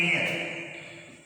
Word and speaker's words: heir: एयर, उसी तरह से एयर, HEIR, एयर, उत्तर क्या है? तो इसको ऐसे लिखते हैं एयर, इसका उच्चारण इससे हो रहा है, ना कि हा से हो रहा है।